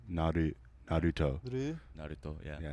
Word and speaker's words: Naruto: It's like almost like an L. Naruto. Naruto, yeah. Yeah, Naruto.